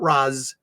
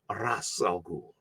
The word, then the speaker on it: Ra's al Ghul: Not Raz, not Raish, Ra's al Ghul.